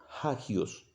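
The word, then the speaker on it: ἅγιος: y es santísimo que se se pronuncia se pronuncia hagios ohios algunos le dicen hay otro hacks bueno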